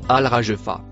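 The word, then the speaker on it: الراجفة: Le mot en bleu se prononce Alragefa.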